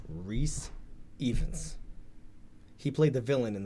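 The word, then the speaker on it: Rhys Ifans: I hope I'm pronouncing his name right, but I believe his name is pronounced Rhys Evans.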